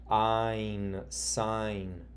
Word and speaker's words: sign: Now notice GN is at the end, and we say GN is G followed by the N. The G is silent, the N you hear it so we would say sign.